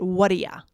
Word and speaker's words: Whaddaya: But yeah, it is connected speech for what do you? What do you? We make it Whaddaya.